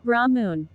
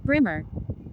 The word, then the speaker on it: Brahman: In terms of how you pronounce it, it's Brahmun.